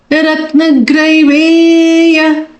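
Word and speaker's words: रत्नग्रैवेय: So it's ga, small a, and then there is an I matra, and then there is a ra matra. But it's not a big syllable, it's small ge. Ratnagrai. Okay, Ratna. So when you put an a, ra, and I to it, it becomes grai. It's not grai.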